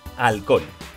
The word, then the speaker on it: halcón: Tenemos la palabra halcón. Truco de las palmadas para separarlo en sílaba. Al-con. Y ahora vamos al truco del lobo. Halcón. Fuerza de voz en con. Última sílaba. Sí, es aguda.